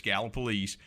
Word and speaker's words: Gallipolis: on the on the i've always said gallup police because people over there if you if you don't say it right you know you you have to act like you live there and so people taught me early when i moved up there it's gallop police but it's interesting you